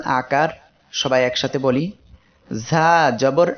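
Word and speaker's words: ظ: এর মাখরাজ হলো জিহ্বার আগা, সামনের নিচের 2 দাঁতের পেট ও আগার সঙ্গে লাগিয়ে ঝা উচ্চারিত হয়।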